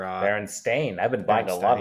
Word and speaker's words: Berenstain: How do you pronounce Berenstein Bear or Berenstein or whatever? Berenstain.